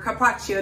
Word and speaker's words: carpaccio: I want to briefly talk about Carpaccio, or Carpaccio, depending on where you're pronouncing it. The C-I at the end of the word has a ch sound in Italian.